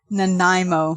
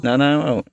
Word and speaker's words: Nanaimo: How do you pronounce that? Nanaimo. Nanaimo.